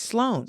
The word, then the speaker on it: Sloan: So, I think it's so funny people cannot say my last name. It's not Salone. It's Sloan.